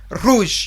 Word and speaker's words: rouge: We have la couleur rouge.